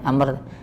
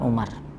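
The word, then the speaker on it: عمرو: tidak ada harakatnya ya Amr ketika di depannya ada wau setelah R maka bacanya Amr bukan Umar kemudian Amr kalau dia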